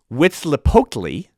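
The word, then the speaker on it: Huitzilopochtli: masquerading as little idols okay the sun god pronounced wits lepotly wits lepokly was waging a constant war against darkness that's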